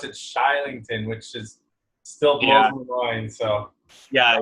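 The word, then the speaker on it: Kylington: it's probably a different pronunciation these Swedish they pronounce it shy Lincoln which is still yeah yeah yeah so they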